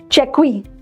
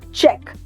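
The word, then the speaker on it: cheque: what about this one चेक वी पापा बोलेंगे बेटा जरा चेक वी पे साइन कर दो वी don't call it चेक वी write the pronunciation ends हियर चेक right what about this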